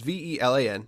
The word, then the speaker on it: Velan: This is the game from I don't know how to pronounce this. It's Velan, so Velan Studios, which you probably don't know because this is kind of their first game.